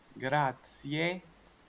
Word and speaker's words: grazie mille: ألف شكر كيفاش كنقولو ألف شكر بالطلاينية إيطاليانو غراتسيي ميلي ميلي ميلي نطق نطق نطق غراتسيي ميلي ميلي ميلي شكر